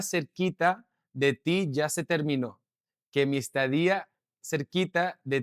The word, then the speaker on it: terminó: Que mi estadía cerquita de ti ya se terminó. Again, guys, you can see how the tilde and how I use the pronunciation, okay? Enunciate. The stress is on that vowel sound. Terminó. No terminó, but terminó.